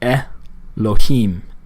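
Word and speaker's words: אלהים: So this is going to give us a really short E sound. This is the name Elohim for God or angelic beings. Elohim, Elohim. It's a very short E.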